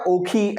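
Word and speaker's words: Ockhi: Example के तौर पर एक साइक्लोन आया था ओक्ची ओक्ची साइक्लोन या ओखी ऐसा करके जो है उसको प्रोनाउंस किया जाता है।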